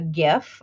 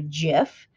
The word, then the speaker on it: GIF: little animated image or a gif or a jiff depending on which camp you are in the pronunciation but let's say I